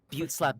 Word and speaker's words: Butt Slap: But Butte Slap is spelled butt slap.